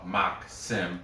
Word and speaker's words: Maxim: leading scorer, Maxim, but it's spelled Maxim, not Maxim, like M-A-X-I-M.